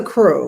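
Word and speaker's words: krewe: it's nice it says crew of muses muse is so would you like to spell crew would you like to spell it k k-r-e-w-e and what is that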